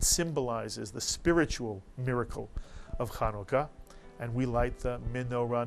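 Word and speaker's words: חנוכה: And so in this word, Chanukah, there you have a 2-syllable word, the U, the Shuruk, and the Kubutz under the Kaf, and the first syllable is Chanu, and the second syllable is Ka.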